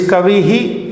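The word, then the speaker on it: कविः: If it is kavihi, if it is a word ending in e, then it will be hi. If it is a word ending in u, then it will be guruhu, hu.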